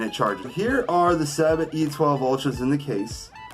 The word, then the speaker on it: Sabbat: It says Sabbat, not Sabbath. A lot of people are like, whoa, wait a minute, Sabbath. No. S-A-B-B-A-T. That's how it's spelled.